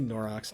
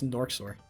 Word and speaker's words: Norxor: I do say Norox. I just started saying Norox for no fucking... It's Norxor. That's the thing. I've been mispronouncing his name since day one, and honestly, bro's just